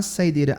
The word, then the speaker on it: saideira: Check out the pronunciation here. Tomar saideira. I'm not going to pronounce this R, okay? Or this R here.